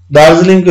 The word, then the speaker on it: दार्जिलिङ: विद्यार्थी भाइ बहिनीहरू, दार्जिलिङको हेर्नुभयो भने दार, दा सँग र, जी छुट्टै उच्चारण हुन्छ। अनि फेरि ली सँग आदि ङ, हलन्त ङ को उच्चारण हुन्छ, दार्जिलिङ।